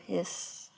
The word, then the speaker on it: His: the bundle of his it looks like it should be like his and hers but you pronounce it more like a snake hiss bundle of hiss right there and then